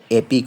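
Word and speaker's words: epic: ইয়ে কিন্তু ই এর উচ্চারণ হবে এখানে এর উচ্চারণ হবে এটা হবে ইপিক না হয়ে এপিক হবে এপিক দিয়ে কি বুঝায় মহাকাব্য বোঝায় আর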